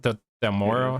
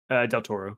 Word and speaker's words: Del Toro: Del Moro. How do you pronounce that guy's name? Del Toro. Del Toro.